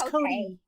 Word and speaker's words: Cote: uh uh oh okay is pat's name pronounced like coat or is it no it's not it's cody cody cody yeah i